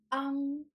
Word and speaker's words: ang: In this lesson, you will learn how to pronounce ang, ng, ing, ng for nasal finals. Those sounds are made through your nose.